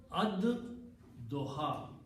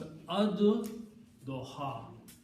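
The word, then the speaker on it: الضحى: So this is ad doha. Okay, when you pronounce these together, then lam is not pronounced, but dod is pronounced twice. So it becomes ad doha.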